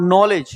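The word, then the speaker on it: knowledge: है उसमें साइलेंट और नॉलेज तो देखो नॉलेज में हमारा के साइलेंट है।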